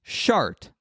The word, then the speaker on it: Chartres: No, and so the name of the town that this cathedral is in, it's spelled Chartres. This is one of the most famous cathedrals in the world. And the pronunciation of the town is Chartres.